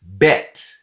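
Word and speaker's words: בית: to fight letters but when they have a dot in the middle this is pronounced as a hard sound it is bet this is gimel gimel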